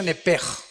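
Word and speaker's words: נפש: Apúntala, como suena nepesh, con SH. Se pronuncia nepej.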